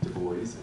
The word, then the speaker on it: Du Bois: Du Bois, and that's how I pronounce his name.